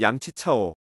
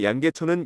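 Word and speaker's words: 梁啓超: 청나라 말기부터 중화민국 초기 시대 중국의 석학이었던 양치오 우리나라 발음으로 양계초는 이황을 찬양하는 시를 썼는데 그시는 시작 부분부터 아득하여라 이부자님이시요라고 했을 정도로 이황을 성인이라고 칭송하고 있습니다.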